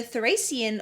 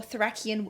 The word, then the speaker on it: Thracian: The work depicts the moment after Timoclea, a Theban woman, kills the Thracian or Thracian soldier, that you can pronounce it either way.